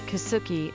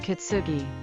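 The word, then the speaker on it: Kisuki: kuki line it is written like this and pronounced as kuki instead of kitsuki the kuki line runs from Shinji station in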